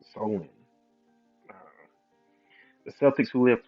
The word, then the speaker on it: Samhain: Halloween's origins date back to the ancient Celtic festival of Samhain, pronounced Solin.